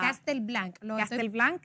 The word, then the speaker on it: Castel Blanc: mirar es una novela Castel Blanca Los Guardianes de la luz lo estoy pronunciando bien así es castelblan Los guardianes a hacer